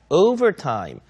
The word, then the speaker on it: overtime: overtime이 아니라 overtime. overtime 앞에 강세를 주셔야 되죠.